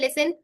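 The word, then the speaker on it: listen: लिसन carefully ठीक है यहां पे जब एस टी इ एन का आएगा तो टी क्या हो जाएगा साइलेंट हो जाएगा आई ऑफेन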